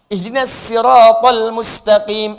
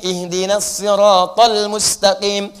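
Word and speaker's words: اهدنا الصراط المستقيم: Ada yang enggak bisa sin pakai shad. Ihdinasiratal mustaqim. Ihdinasirathal mustaqim. Ada enggak bisa sin, enggak bisa shad, pakai zai. Ihdinaszirathal mustaqim. Ada makna enggak berubah cara bacanya.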